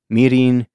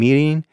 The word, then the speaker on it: mirin: There's a mixture that they make of soy sauce and mirin. I should probably say what that is. I mentioned that before, and I'll say it like an American.